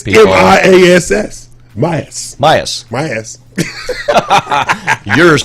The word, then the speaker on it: Miass: Myas.